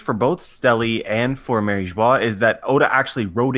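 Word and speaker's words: Mary Geoise: Mary Joie, but don't call it Mary Joe's.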